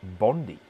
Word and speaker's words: Bondi: It's pronounced Bondi.